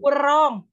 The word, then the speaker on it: wrong: tag Bos Bronx Persero wrong wrong tewas borong no rongga digoreng transfer resmi whitelight whitelight your heart so Yo what's wrong with you jadi itu W juga silent W Ojan hobi kamu menyimpan